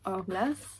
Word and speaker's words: Hourglass: Ça se prononce comme ça, Hourglass.